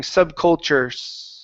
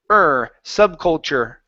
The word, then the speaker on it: subculture: So, leave your mouth like this. Subculture and then stop all sound here. And no more air. You don't want to push any more air out of your mouth.